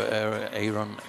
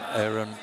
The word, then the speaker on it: Aaron: Good coverage there in the corner from a little bit over the top for Aaron. Excuse me, I'm saying it German. Aaron Edelman.